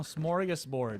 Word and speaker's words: smorgasbord: Oh, smorgasbord.